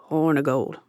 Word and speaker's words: Hornigold: "Hornigold. Short I, like ick instead of eek."